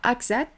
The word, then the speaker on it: Axat: Axat, Assat, comment tu prononces? Alors, moi, je suis de Haute-Savoie, donc il faudrait demander aux vrais gens du cru. Mais moi, je crois que c'est AXA. AXA, donc décès AXA.